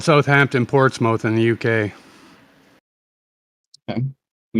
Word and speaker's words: Portsmouth: It's pronounced Portsmouth, not Portsmouth. Not that there was any evidence to begin with.